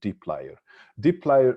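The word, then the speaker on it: dplyr: with a particular library a particular package called deep d plier this is how it is pronounced it's written dpi lower y uh plier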